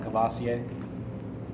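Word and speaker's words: Courvoisier: have uh cavasier main one that's how you pronounce that cavasier we have Remy Martin it's another one okay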